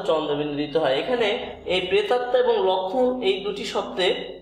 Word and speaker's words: প্রেতাত্মা: ত, এই ত, আর এখানে তয়ে যে ম আছে এটা একটি ফলা, যেহেতু এর উচ্চারণ নেই, প্রেতাত্মা এই ময়ের উচ্চারণ নাই, তাই হচ্ছে দুইটি ত হবে, কারণ ফলা একটি বর্ণকে দ্বিত্ব করে।